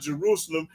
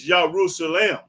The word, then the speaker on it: Jerusalem: Like I say, it's not Jerusalem. It's Jerusalem. That's how you pronounce it, Jerusalem, because it starts with a Y and not no J.